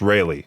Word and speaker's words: Raleigh: Is it Raleigh? I believe that's how you say it. It's just Raleigh.